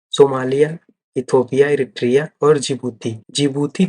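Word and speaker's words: Djibouti: जिबूती तो जे से start होना चाहिए, लेकिन नहीं, जिबूती का जो स्पेलिंग है वो डी है आगे, फिर उसके बाद जिबूती है जे।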